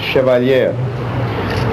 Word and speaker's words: Chevalier: Center Auditorium grant funds for the, do you pronounce it Chevalier? Chevalier.